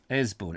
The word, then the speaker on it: Easebourne: The one that has the name that's spelt one way and you pronounce it another. And I can't bloody remember. Anyway. It's Easebourne or Esbourne. Esbourne. It must be Esbourne, mustn't it?